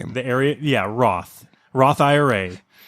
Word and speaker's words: Wroth: That's not how you spell it, though. Oh, no. Well, if you take out the W. Yes. Roth.